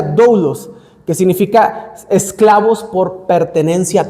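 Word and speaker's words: δοῦλος: La palabra que encontramos aquí es una palabra que se pronuncia doulos, que significa esclavos por pertenencia total.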